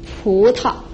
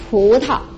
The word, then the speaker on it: 葡萄: No tonal mark, it's soft and short. So we combine these two characters, it's going to be pu ta, pu ta, pu ta.